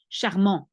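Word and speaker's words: charmant: at the end of normally you don't pronounce the last T you say charm but if we put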